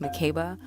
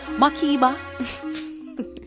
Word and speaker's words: Makeba: Well, it's actually pronounced Makeba, but my parents are Jamaican, so they say Makeba.